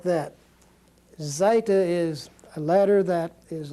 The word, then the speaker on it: zeta: different from English letters it's very much sound as far as the Z or Zoo the way zoo is pronounced it's the way it's going to be pronounced but it's a Zeta